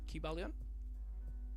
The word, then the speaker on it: Kybalion: We think about the Kybalion. Is that how you pronounce it? Kybalion.